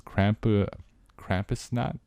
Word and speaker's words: Krampusnacht: Krampus shows up in town the night of December 5th, known as Krampusnacht. Krampusnacht? Yeah. Krampus. I believe you're saying it. It's like knock, like the way you pronounce it.